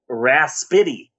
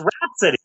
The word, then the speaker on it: Rapsittie: Also, I just want to point out that Rhapsody is spelled Rapsittie. Mm-hmm. At first, I thought it was called the Raspity. Yeah. But no, it's Rhapsody, but spelled in a way that no one would ever spell it.